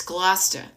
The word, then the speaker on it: Gloucester: It's Gloucester.